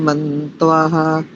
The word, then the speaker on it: मन्तवः: किरण सेठी जी, ॐ य ईशिरे भुवनस्य प्रचेतसो विश्वस्य स्थातुर्जगतश्च मन्त्वः तेन कृताधीन सस्पर्यद्या देवासः पिप्रीता स्वस्तये। बढ़िया उच्चारण। दो त्रुटियां हैं मोटी मोटी। मंत्वा ऐसा नहीं, मंतवा, त्वा करेंगे तो तकार आधा हो जाएगा।